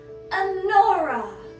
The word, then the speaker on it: Anora: Next up, for the first legendary hero of the cursed cult, we have Anora.